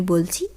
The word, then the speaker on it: belle: আমরা এই শব্দগুলো কিন্তু সাধারণত বলে থাকি মেয়েটি ভীষণ সুন্দরী বা ছেলেটি ভীষণ সুন্দর। সেই ক্ষেত্রে বো, বেল অর্থাৎ স্ত্রীলিঙ্গবাচক শব্দের ক্ষেত্রে বেল, পুংলিঙ্গবাচক শব্দের ক্ষেত্রে বো।